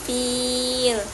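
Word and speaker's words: فيل: Nah, pada ayat selanjutnya yaitu bi ashabil fil. Bi ashabil fil. Fil. Nah, filnya ini termasuk ke bacaan mat arid li sukun. Nah, dibacanya sekitar 4 harokat atau 5 harokat.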